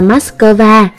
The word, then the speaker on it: Matxcơva: nhiều cách khác nhau trong tiếng Nga là moshe đối phương âm tiếng Việt đọc là Matxcơva còn trong tiếng Anh đọc là mas cao à ở Matxcơva ban